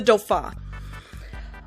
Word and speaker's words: Dauphin: The Dauphin, and I'm pretty sure that's how you're supposed to pronounce it. I do not speak French though, but I'm pretty sure it's the Dauphin.